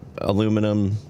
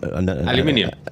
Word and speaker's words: aluminium: yes no yeah where you add entire syllables to words like uh aluminum Um, you add aluminium. Yeah, that's like two more letters and one more syllable.